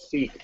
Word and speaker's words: Sikh: Now, The word is Sikh, by the way.